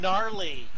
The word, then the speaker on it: gnarly: today it was good gnarly nice no the G is silent you don't know not